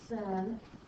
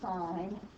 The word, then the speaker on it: sine: abbreviate fsi n but we never say it's sin it is always pronounced sine c-o-s-i-n is cosine it